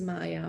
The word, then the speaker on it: Maja: learned later I learned my name is Maya with Jay but it is actually the same as m-a-y-a so uh it is spelled m-a-j-a and uh and I